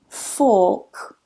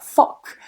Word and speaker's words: fork: Now be careful with that because I do hear some students saying fuck, and that sounds very close to a bad word in English. So make sure you get that vowel length a little bit longer.